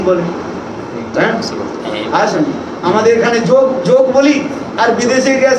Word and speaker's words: যোগ: হ্যাঁ, আসেন আমাদের এখানে যোগ যোগ বলি, আর বিদেশে গিয়ে সেখানে যোগা। হ্যাঁ, যোগ থেকে কি হয়ে যায়, তারা যোগ শব্দ উচ্চারণ করতে জানে। যোগ কি বলে, যোগা, গা শব্দ আকার দিয়ে।